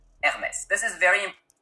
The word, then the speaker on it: Hermès: It's not Hermès, it's Hermès. This is very important in French, the H is always silent unless it's part of a digraph.